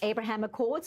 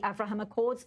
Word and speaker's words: Abraham Accords: Dan Perry, much mention was made of the Abraham Accords, also the Avraham Accords, also another pronunciation.